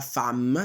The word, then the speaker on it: femme: Le frère diventa la sœur, l'homme diventa la femme, si pronuncia femme, attenzione, l'avevamo già visto.